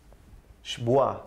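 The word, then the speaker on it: שבועה: Shbua sería la pronunciación. Algo así como Shbua.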